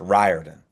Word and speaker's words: Riordan: I was gonna Molly, my wife is Irish and she always tells me it's like we pronounce the name wrong. So I'll let everyone know here on the list service. So put a little Texas slang on it. It's Riordan. Is it Riordan? It is.